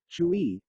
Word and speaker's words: chui: associated with the lungs four kui pronounced like Chui with a forceful exhale which is associated with